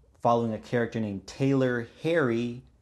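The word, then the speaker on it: Pherry: a character named Taylor Harry Harry spelled p h e r r y the p is silent and it is about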